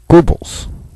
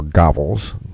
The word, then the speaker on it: Goebbels: uh confiscating guns from Yousef Gobles or Gobles depending on how your German pronunciation is well Yousef Gobles was